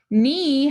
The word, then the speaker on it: knee: Knee has two digraphs. We have digraph KN, cross out the K, and digraph EE. The E says E, the second E is silent. Knee.